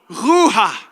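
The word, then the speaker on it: רוח: « Ruha ». Tu sais, « Ruha ». Il faut entendre le H. Là. « Ruha ». On ne prononce pas le K ou le CH, c'est « Ruha ».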